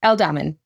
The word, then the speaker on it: Aldham: El Damon. Elamin.